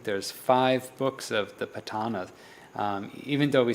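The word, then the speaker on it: Paṭṭhāna: the patana is a the proper pronunciation is patana uh and this is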